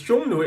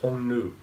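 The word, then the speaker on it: Xiongnu: Mongolian step is a is a shungu this shungu is a modern Mandarin pronunciation but in by in the middle Chinese of Han Dynasty is actually pronounced more like honu so um a Hu or aka the Hans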